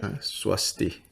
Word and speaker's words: Swasti: I emailed that the password Swasti. That's how you say it. Swasti, yeah.